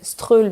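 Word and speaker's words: Strøget: la rue principale commerçante qui s'appelle strull mais comme vous dit tout à l'heure s'écrit Stroget et ce magasin illums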